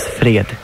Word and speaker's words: fred: And you pronounce it Fred.